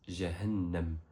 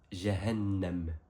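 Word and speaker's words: جهنم: cette façon en arabe il se prononce jeahannam répète après Jahannam.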